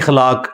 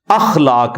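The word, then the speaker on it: اخلاق: साथ होते हैं मसलन यह लोग बोल देते हैं खलाक खलाक लफ्ज नहीं है अखलाक लफ्ज है तो अगर हम यह लफ्ज यूज करेंगे तो अलिफ के ऊपर जबर डालेंगे इस तरह इंग्लिश के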